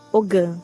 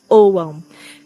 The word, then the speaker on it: Ogham: Algumas pessoas aqui no Brasil falam Ogham, mas a pronúncia correta é Ogham, que é conhecido como alfabeto das árvores celtas.